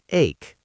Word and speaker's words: ache: Pay attention to the pronunciation. It sounds like ache.